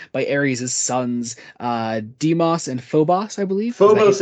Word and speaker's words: Phobos: No, but I swear they pronounced it Phobos. It's Phobos Okay, because no. But in the phobia. Doctor Who audio drama, they pronounced it Phobos. Yeah, that one's wrong. Okay, well, you say it